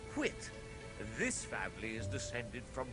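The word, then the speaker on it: Whyte: You see, the spelling here is W-H-Y-T-E, pronounced Whit.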